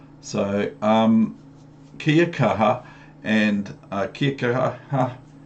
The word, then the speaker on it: kia kaha: So kia kaha, and kia kaha, it almost sounds like Kia from Australian Kia.